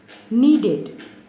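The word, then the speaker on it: kneaded: for hot h-e-a-r-t-h hearth needed here k is silent k n e a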